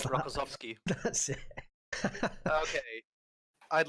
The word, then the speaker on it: Rokossovsky: I can't pronounce that. Rokossovsky.